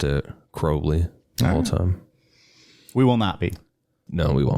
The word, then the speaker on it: Crowley: There's no audio of him pronouncing his name, but in some of his poetry, he rhymed his name with unholy, Right. Unholy Crowley.